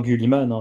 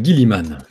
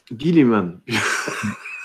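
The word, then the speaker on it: Guilliman: Remarque, moi, je dis encore Gulliman régulièrement. Hein. Oui, tu dis encore Gulliman, ouais. Mais ça, c'est censé se prononcer comment, justement ? Bah, Gilliman. Gilliman. Gilliman. C'est Gilliman. J'avais peur que ça soit ça, ouais. Ouais, non, c'est Gilliman.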